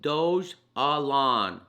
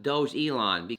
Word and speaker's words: Dogelon: Dogelon, it's pronounced Dogelon, not Dogelon.